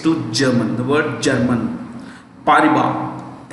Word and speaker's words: Paribas: Paribas, S is silent.